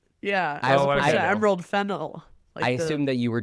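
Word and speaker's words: Fennell: The second being Emerald Finel is our least essential voice in Wow. You you pronounced it correctly. Yeah. Yeah. Emerald Fennel.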